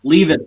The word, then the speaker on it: Leavitt: It's pronounced Levitt. I always get it wrong. Get it wrong. Oh, it's Levitt. Yeah. Leavitt's still funny.